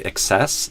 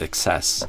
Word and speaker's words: excess: Cuz if you say excess, it sounds like uh extra like excess.